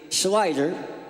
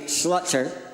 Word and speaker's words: Slider: My last name is actually Slider, but people keep pronouncing it Slutzer.